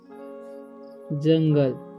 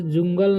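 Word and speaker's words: jungle: हम स्लेप ठीक है द जंगल इसे जुंगल नहीं पढ़ना है जंगल पढ़ना है ठीक य का उच्चारण जो है यहां पर अ हो रहा है ठीक है तो वन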